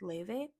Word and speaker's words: LY: you guys know ly that's what it looks like but it's pronounced Le and love her music